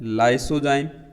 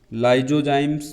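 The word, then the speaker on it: lysozyme: ठीक है, फिर एक एंजाइम है लाइसोजाइम, लाइजोजाइम्स भी बोलते हैं, लाइसोजाइम्स भी इसका उच्चारण है।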